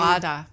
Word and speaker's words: feijoada: where I can't know how to pronounce the name. Feijoada.